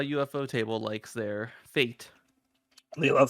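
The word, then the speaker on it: ufotable: UFO table it is no it absolutely is UFO table I we used to pronounce it as euph fodable and he still pronounced it eup fodable but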